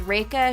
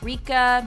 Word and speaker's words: Reka: not in this video my name is reka not rica not Rekha and definitely not Rachel my name is 1g